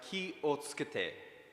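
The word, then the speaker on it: 気をつけて: The phrase is pronounced ki o tsukete, and is roughly translates to the English that is beside it, which is take care of yourself.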